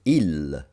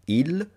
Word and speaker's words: il: So, without further ado, let's take a look at the definite masculine article, which is ill, not ill. Ill. You use the L that you pronounce with the tip of your tongue.